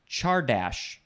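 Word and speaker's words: csárdás: And how do you pronounce that word again? Chardash.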